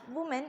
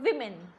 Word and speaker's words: women: currency it is women many people tend to pronounce it as woman but it's not woman it's women so let me write